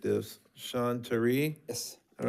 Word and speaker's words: Sean Terry: I may have butchered this. Sean Tari?